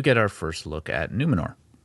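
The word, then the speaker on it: Númenor: our first look at numenor or numenor with a rolled R and I am not going to pronounce it with the rolled R because I actually found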